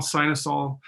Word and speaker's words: Synesael: I was trying to pronounce based on how I was reading it, Chris. And then I remember him saying like Tylenol. Yeah. I remember saying that. Tylenol, Synesael.